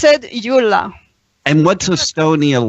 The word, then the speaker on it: Yula: And her name is Yula. It's pronounced Yula.